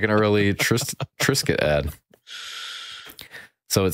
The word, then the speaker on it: Triscuit: And I'm sure they put the S in it so that you pronounce it Tris. Because if you just had a C instead of a, you'd have Triscuits.